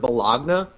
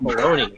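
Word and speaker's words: bologna: me yeah you know i had a similar struggle with the word bellogna and i kept hearing all these dumb called baloney i'm like no they're wrong though there's a g in it dumbass what are you doing yeah my blog now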